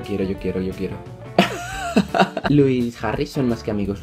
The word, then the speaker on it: Louis: habéis dado cuenta digo Luis y no Luis o no sé qué Porque una vez dije Luis y todo el mundo se pronuncia luisis Luis Luis la es no se pronuncia Así que lo estoy